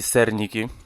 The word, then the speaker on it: Cernicky: mnie krótki przejazd od Eddie serniki tak tak się wymawia Jak na nazwisko m